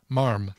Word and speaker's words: ma'am: We pronounce it as marm, M-A-R-M.